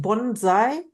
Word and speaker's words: Bonsai: have to help me is it pronounced bonai perfect oh thank you so much